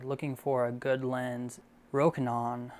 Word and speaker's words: Rokinon: Rokinon, that's how they say it in US, Rokinon, or Samyang Optics.